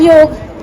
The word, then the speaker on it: yoga: to clarify one thing the correct pronunciation of this word is नॉट योगा बट योग ट्स हाउ it suppose to be pronouns and ट्स हाउ व